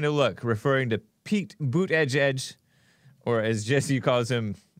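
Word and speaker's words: Buttigieg: country won't elect Pete boot edge edge I don't know how he pronounces the name but that's how our Trump pronounces it and that's how it's said to pronounce it boot edge edge because he's been kissing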